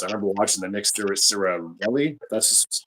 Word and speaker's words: Sirianni: Because I remember watching the Nick Sirianni, that's how you pronounce his name, the coach, Their coach Nick Sirianni.